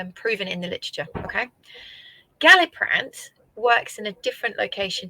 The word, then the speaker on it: Galliprant: and being put back on, how do you pronounce this? So it's Galliprant.